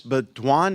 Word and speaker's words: Beaudoin: Beaudoin, is that how you pronounce it?